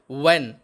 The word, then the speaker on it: when: Next, WHEN, এটাও কিন্তু হোয়েন হবে না বন্ধুরা, এর উচ্চারণ হবে ওয়েন, এর অর্থ হলো কখন।